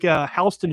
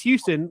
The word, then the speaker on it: Houston: It's sort of like sort of like Hston Street in New York City, right? Uh you know, people think it's Houston, like Sam Houston from Texas, but it's named